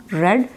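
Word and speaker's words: read: तो राइट की second form रोट, रीड की second form रेड. Spelling same होंगे लेकिन पढ़ेंगे उसको रेड.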